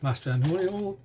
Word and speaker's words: Mastrantonio: Starring Mary Elizabeth Mastrantonio, that's how you pronounce her name, and David Strathairn, the regular Sayles, and Vanessa Martinez, who's also in Casa de las Babies.